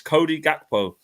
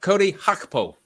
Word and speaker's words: Cody Gakpo: And PS says, Owen, it's time for your pronunciation successor to Seshko. It's Cody Gakpo.